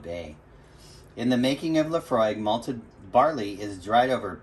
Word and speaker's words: Laphroaig: real quick laphroaig pronounced laphroaig because i learned that sounds like a love frog is an all malt